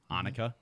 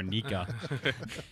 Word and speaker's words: Annika: And I learned Annika. Yes, Annika. Yes. Last week I could not get that down. I kept calling her Anika.